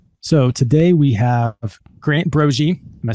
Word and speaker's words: Broggi: Legend has it that my grandfather, the Italians, were Broggi. The Irish people weren't intelligent enough to say it correctly, so they just changed it to a hard G.